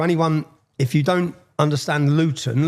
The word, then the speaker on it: Luton: And so anyone if you don't understand Luton Luton see I pronounce my tea there. We don't pronounce our te's.